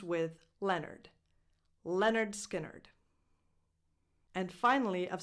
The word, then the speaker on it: Lynyrd: The name of this American band is actually a misspelled version of this name, which is a character from a book. So it's pronounced Leonard, just like Leonard Cohen.